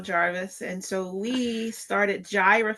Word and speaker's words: Jireh: My husband Emanuel Jarvis and so we started Gyra Family Farm is pronounced Gyra.